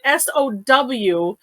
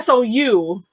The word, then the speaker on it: Samhradh: on here so see i decided to make it sow or sou for the um the pronunciation because i think that